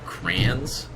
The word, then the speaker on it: crayons: You should just say crayons. Crayons has Crayons. 2 syllables, sir. Sir, 2 syllables.